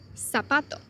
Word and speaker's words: zapato: In ceseo, for same letters, C and Z, are pronounced like S. For example, zapato pronounced as zapato.